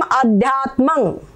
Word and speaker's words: अध्यात्मं: माँ पूरा बोलोगे किम अध्यात्मं, यहाँ पर ये जो बिंदी है इसका अनुस्वार उच्चारण होगा।